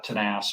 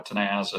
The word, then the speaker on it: Tenaz: went with the name um uh tanas or tenaz as we mispronounce it but we're we're quite proud to have a a Spanish name and um from the